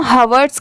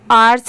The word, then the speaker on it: hours: तो देखिए यहाँ पर भी इस वर्ड में भी लेटर H साइलेंट है, इसे सिर्फ OUR आर्स ही पढ़ा जाता है, OURS, आर्स।